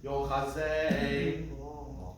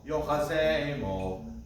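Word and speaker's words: יֹחֲזֶה: We want it clear that this is the accented syllable. Because if you go yochazemo, that to me sounds like mo is being accented, but we don't want mo. We want zay accented.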